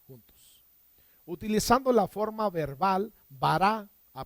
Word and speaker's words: bará: utilizando la forma verbal bará a Pon el acento en la última a porque no pude corregir